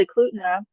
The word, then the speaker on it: Eklutna: have a place called Eklutna where there is a old What? school pay How do I say it? Eklutna, Spell it for me.